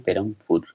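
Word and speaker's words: Perambur: आप ध्यान रखिएगा कि ब है, लेकिन हम लोग उच्चारण करते हैं पेरमपुर।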